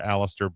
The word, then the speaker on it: Aleister: Notable names: Alba Fire, Aleister Black, Apollo Alistair Crews, who? Aleister Black. Ah, I'm not as good as you at it as you are, Mark. you got to roll your R's.